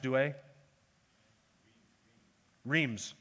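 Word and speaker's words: Douay-Rheims: now just in case i pronounced that wrong paul how would you say that rhymes douay rheems did i get douay right okay rheems do a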